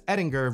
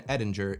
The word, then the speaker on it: Edinger: father had passed away my father had always pronounced the name eding as it is of Germanic origin and I'd always just pronounced it Edinger to go against that just to be different it is traditionally pronounced Edinger I was you know